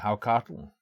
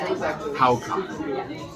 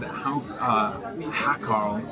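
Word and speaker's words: hákarl: and I've ordered what I believe is pronounced Haukatl. That is a word that looks like it should be said Hakarl, and it is fermented shark.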